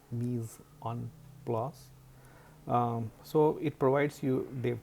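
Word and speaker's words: mise en place: It is pronounced Mise-en-place.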